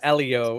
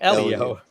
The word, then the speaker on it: Elio: that uh and then in terms of elio it would be pronounced Bob said it like Elio Elio okay um yeah that's